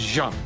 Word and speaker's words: Jeanne: This is Jeanne, and for all of you people in the United States as ignorant as me, it is not Jeanne, it is Jeanne.